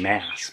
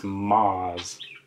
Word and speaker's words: Maas: by sarah j maas i always want to say her name is sarah j maas but i guess it's moz but i saw this